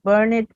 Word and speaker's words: burned: rug and it has burned a hole in that one. Correct. So that word is pronounced burned. Burned. Yes, not burned. So we don't have that extra syllable again.